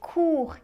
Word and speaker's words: court: Also look out for word short (court) with a silent letter, the T at the end.